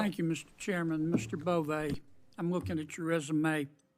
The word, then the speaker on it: Bove: Bove, I'm looking at your resume. It's Bove, right? Bove, Senator, like with Bove, a long I E.